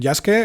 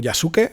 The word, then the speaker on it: Yasuke: Okay, let's start with the story, we see that "Yaske", or "Yasuke", is explaining the story, the correct way is "Yaske", but I am also used to saying it wrong, so to speak, "Yasuke", so I will say it both ways.